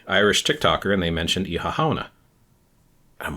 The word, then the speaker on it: Oíche Shamhna: There's actually an Irish word, Oíche Shamhna, and that's how you pronounce it.